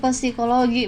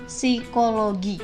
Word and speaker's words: psikologi: aku gatal gitu dengarnya karena aku dengernya pesikologi bukan psikologi tapi yang bener tuh bacanya psikologi gitu ya nih kalau